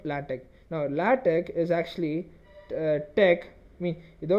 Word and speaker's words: TeX: it as latte okay it kind of ends with a k sound instead of an X sound okay so what latex